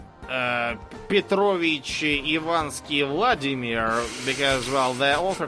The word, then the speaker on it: Petrovich: book is named Vladimir Petrovich. Petrovich what? This demands a last name. Yeah, and you even pronounce it wrong. It's like Vladimir Petrovich. Or sometimes Petrovic. Petrovic. It's Petrovich, not Petrovic.